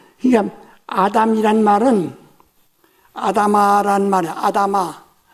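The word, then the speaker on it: אֲדָמָה: 아다마. 이 히브리 발음인데 아다마 하면 그냥 흙이란 말이에요.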